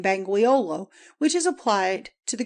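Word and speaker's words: Bangweulu: of the water though I fear that our English folks will boggle at it or call it bangi hollowo. Some Arabs say bambiolo as easier of pronunciation but banguolo is the correct word.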